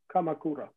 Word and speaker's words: Kamakura: uh how do you say it correctly kamakura kamakura the first week yeah could be uh could